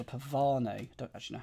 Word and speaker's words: pavane: And I believe there's a dance called a pavan. Don't actually know how you say it, but I assume pav. Pavane feels wrong.